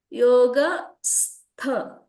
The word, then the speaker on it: योगस्थ: Here yoga stha, you should say yoga stha kuru karmani. You need to just drag it. Okay. Yogastha.